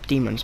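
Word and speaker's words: daemons: I'm running, by the way, because there are demons behind us. Demon spelled with an AE, weirdly enough. I got very confused at the spelling too, because it's still pronounced demons, such as DE.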